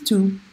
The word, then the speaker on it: tous: But remember, T-O-U-S as an adjective, you pronounce it tout.